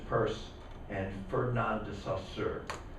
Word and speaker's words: Peirce: guy's it was like charles sanders peirce actually pronounce his name purse that's Charles Sanders purse and burn on dis